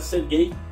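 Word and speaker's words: Сергей: era Sérgio aleksandrovitch mas a pronúncia em russo dessert é fica a ser gay né Por causa das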